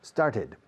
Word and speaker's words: started: In the past tense, started. Con el verbo to start, añades una sílaba más. Start, started. Every day I start, yesterday I started.